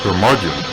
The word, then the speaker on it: curmudgeon: the curmudgeon rock report curmudgeon rhymes with bludgeon rock gods do it